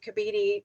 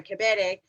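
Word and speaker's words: Kebede: But I also wanted to compliment Chief Kabidi, and I say your name wrong, I'm sorry, Kabede, because I hate it when people say, so I need to say it correctly.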